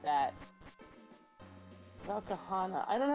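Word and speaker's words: Velkhana: Valkahana.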